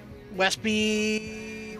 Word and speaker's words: Westby: Was originally hoping to go hang out with a couple of people today, but it's not, it's Westby, Wisconsin?